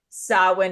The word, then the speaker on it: Samhain: what sawin is and we're just proud that we can say it because it it's not spelled everybody in the way that you would think it's spelled s m ha a i n can you talk a